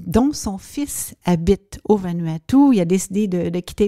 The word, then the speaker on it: Vanuatu: au bout du monde, dans un petit pays de 83 îles qui s'appelle le Vanuatu, mais qui s'écrit Vanuatu. Donc, pour les gens qui